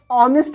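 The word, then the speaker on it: honest: प्रयोग करेंगे अगेन य ऑनेस्ट मैन नेस्ट लिखते हैं लेकिन यहां एच जो होता है यह साइलेंट हो जाता है तो एच साइलेंट हो गया तो ऑनेस्ट हो गया ऑनेस्ट जो लिखते हैं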